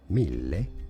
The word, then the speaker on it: mille: No, Italian mille. Mill. A double L makes the L longer. So, stress on that L.